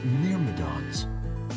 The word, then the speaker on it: Myrmidon: What are these Myrmidons? Thank you for pronouncing it like Myrmidon.